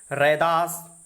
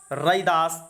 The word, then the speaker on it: रैदास: देश के विभिन्न भागों में उनके ऐसे अनेक नाम प्रचलित हैं जिनमें उच्चारण की दृष्टि से बहुत थोड़ा अंतर है। रैदास, रविदास आधुनिक नाम, रैदास और रदास, रैदास आदि इनके नाम हैं। उच्चारण की भिन्नता को ही प्रकट करते हैं, इसलिए लोक प्रचलन और सुविधा की दृष्टि से उनका मूल नाम रैदास ही स्वीकार किया जाता है।